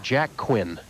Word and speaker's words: Quinn: The winner, of course, moves into the championship, Jack Quinn. Rhymes with Flynn, though.